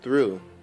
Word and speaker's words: through: But there are some irregularities, like in the word through that ends in O-U-G-H, but there is no F sound at the end of that.